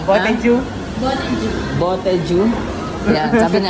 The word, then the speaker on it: Botejyu: dito kami sa ano, Botejyu. Botejyu Ramen. Di ba alam paano pronounce eh? Paano mo kaya ating man? Ano ba paano pronounce? Botejyu.